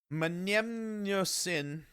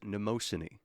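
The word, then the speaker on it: Mnemosyne: Number five is Manmosin. Manmin. It's spelled M ne.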